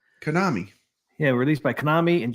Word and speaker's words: Konami: Konami. Konami.